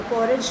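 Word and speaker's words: porridge: पॉरेज का मतलब होता है दलिया, बेटा इसे पॉरेज पढ़ते हैं, ना कि इसमें डी साइलेंट होता है, ठीक है।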